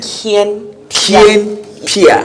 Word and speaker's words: Kien Pia: It's Kien Pia. like that, Kien.